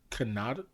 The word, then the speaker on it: Kanata: Lupita Nyong'o plays Maz Kanata.